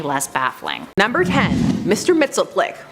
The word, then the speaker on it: Mxyzptlk: Mxyzptlk. Mxyzptlk? Now I spent some time practicing how to say this, and I ended up going with the Superman animated series Gilbert Gottfried pronunciation.